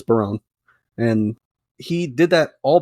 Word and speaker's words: Barone: I believe that's how it's pronounced. It might be Baroni. I don't think it's Baroni though. I'm pretty sure it's Barone.